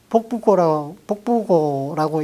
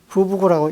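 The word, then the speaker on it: 覆瓿稿: 겸사로 부부고 원고라고 썼는데 이걸 복부고라고 읽으면은 단지를 뒤집어 엎는다. 이렇게 되니까 부부고라고 읽어야 된다.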